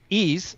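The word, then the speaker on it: εἷς: abraham that's because whenever the greek word for one is or heist i'm using the modern greek pronunciation by the way ease appears in reference to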